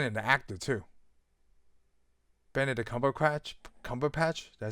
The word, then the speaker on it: Cumberbatch: Benedict Cumberbatch. Did I say it right? Cumberbatch, yeah.